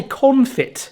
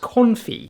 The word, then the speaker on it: confit: Yeah, like, have you heard of like, I wanna say confit of garlic, but I think it's pronounced confit. Confit.